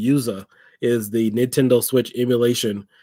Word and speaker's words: yuzu: it is USA y-u-z-u could have swore the other day I looked at I thought it was Yazoo but it's actually yuza is the Nintendo switch